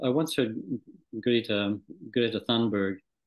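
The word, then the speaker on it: Greta Thunberg: want to agree to Greta thundberg pronounce her own name and it was more like Grita tunbury no so well the G was a like a y hmm so it's just part of the Swedish whereas Partners they do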